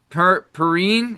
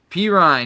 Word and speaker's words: Perine: Per pin, is that how you say it? Perine, he had 14 touches or 14 rushes.